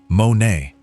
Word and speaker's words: μονή: But the Greek word behind mansions is monē, pronounced monē, and it has nothing to do with luxury real estate.